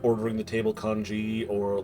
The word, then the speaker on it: kanji: Kanji, I thought it was kongi. No. Both pronunciations are used.